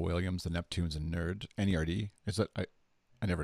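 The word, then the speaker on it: N.E.R.D: videos of Pharrell Williams The Neptunes and nerd NER D is that I I never know if I'm supposed to pronounce it or spell it out I I did amazing officially its NER D but yet people say no even they say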